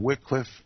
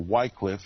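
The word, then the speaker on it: Wycliffe: the book is entitled Wickliffe and the laws or Whitecliff if you choose to pronounce his name that way we're going to talk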